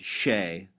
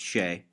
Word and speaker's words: Shea: My name is Shea. It's pronounced Shay. Looks like, but Shay.